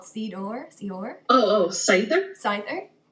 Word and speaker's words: Seiðr: of like uh well there's a couple different ways to pronounce it the way I choose to pronounce it is um more of the Icelandic way which is it's kind of like cider like apple cider but it's like Sider you kind of get a roll on the tongue yeah I